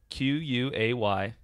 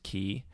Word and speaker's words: quay: your google pronunciation google google q-u-a-y and it'll come up with the dictionary on google first thing and you'll see the first one is key but then the second one is k w long a quay so but all the it's an alternate pronunciation okay but it's not the main one so i still win